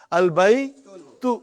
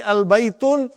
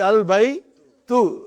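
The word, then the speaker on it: البيتُ: Al-baytu. Oh, tu. Al-baytu. Got to be careful, brother. If you say al-baytun, I got a very weak heart. I'll get heart attack. It has to be al by tu.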